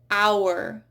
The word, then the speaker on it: hour: Then we have words where you just do not hear the H at all. Hour.